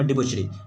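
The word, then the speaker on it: debauchery: ठीक है, the term क्या हो जाएगा, द टर्म डिबोचरी, आपको प्रोनाउंसिएशन सही से करना है, यहाँ आपको डिबोचरी लिख दिया गया है।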